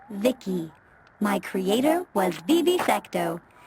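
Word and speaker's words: VICI: transistors by the way I'm v-i-c-i pronounced Vicky my Creator was Bibi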